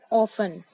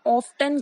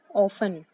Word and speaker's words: often: होता है अक्सर एंड इसे हम बोलते हैं ऑफन. काफी लोग इसे ऑफ्टन कहते हैं बट ये सही नहीं है. सही तरीके से बोलेंगे तो इसे कहेंगे ऑफन. यहाँ हमारा टी साइलेंट है.